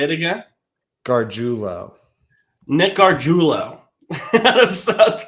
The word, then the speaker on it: Gargiulo: Gargiulo.